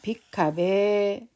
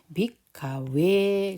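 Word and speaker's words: bhikkhave: 그 혹격할 때 그다음에 빅카베 오 비쿠들이여 이러는 거죠. 여기도 발음을 빅카베 이렇게 주로 하시는 분들이 계세요. 빅카베가 아니라 베라고 발음하지 않거든요. 빅카웨. 그래서 이 V 발음에 대해서 조금 더 신경을 쓰셨으면 합니다.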